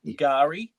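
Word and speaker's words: K'gari: The official Aboriginal name is Gari. The K is silent.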